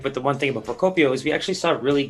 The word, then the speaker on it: Procopio: Procopio. Oh, it's a hard C there.